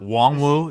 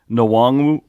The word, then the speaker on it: Nwangwu: Just for my Cyclone cred, this is a Now, yeah, that's now Wongwu is how it's pronounced.